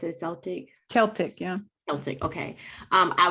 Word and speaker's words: Celtic: And so when I read that you left Christianity and found Celtic spirituality, is that how you pronounce it? Celtic?